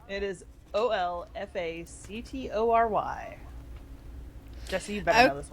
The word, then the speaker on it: olfactory: it, I'm sitting there going, you know, an all factory? What in the crap's an all factory? But Where you make the alls. So basically the L is silent, it's just olfactory, right? No, Yeah, it's well, olfactory.